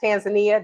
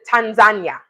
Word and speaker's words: Tanzania: Tanzania. Yes, we've been saying it wrong. Tanzania. That's what we've been taught. But people from Tanzania calls it Tanzania. So it's Tanzania.